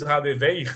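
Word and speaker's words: Hadewijch: A Radevich, que, ou em holandês, Radeveig, né? Como eles pronunciam, que é dificílimo para a gente falar, ela descreve as núpcias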